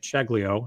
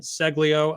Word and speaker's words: Ceglio: I was pronouncing it Ceglio, and so we hopped on here. Again, no preparation. He is Dillon Ceglio of Chubby Snacks.